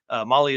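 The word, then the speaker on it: Mahle: podcast listeners out there Molly is spelled m ahle e all right dude show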